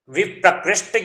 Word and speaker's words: विप्रकृष्ट: देखो इसको अलग अलग पढ़ रहे हो ना तो इसका उच्चारण थोड़ा सा अलग हो जा रहा है, इसका भाव अलग हो जा रहा है। विप्र मीन्स होता है पंडित, और इसका विप्रकृष्ट बोलोगे ना तो भाव अलग हो जाएगा।